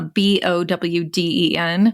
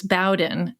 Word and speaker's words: Bowden: maiden name is uh b o wde n and I and we always pronounced it as Bowen but growing up people were like Bowden Boden like everything so so